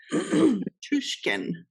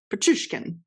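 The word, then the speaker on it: Pichushkin: Alexander now I'm going to say it wrong. Petrushkin. Now I said it right. Petrushkin.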